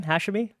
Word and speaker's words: Hashemi: hashy from costum clay that's how you pronounce your last name hashy yeah I think it depends where in the world you're from is how you pronounce it but yeah that's how